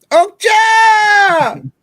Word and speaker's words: Okja: Okja!